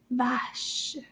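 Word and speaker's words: vache: a beautiful cow and the cow word in french is called vash and how many syllab syllables are there in that word let's count vash that was only one one syllable inside vash can you repeat that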